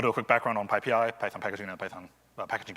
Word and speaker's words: PyPI: It's pronounced PyPI, not PyPI or anything else.